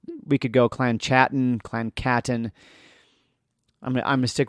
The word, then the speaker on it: Chattan: If you're new to the subject, Clan Chattan, so I'm pronouncing that with a guttural CH, because I'm just doing my best. We could go Clan Chattan, Clan Chattan.